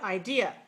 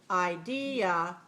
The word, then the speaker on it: idea: one all right so this word has three syllables the uh one is stressed and clear and long which one is it second syllable right watch me idea the second syllable is long and clear idea idea right the